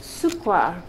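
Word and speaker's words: Cukor: In Hungarian, the Cooker name means sugar, and it is pronounced Sukwar.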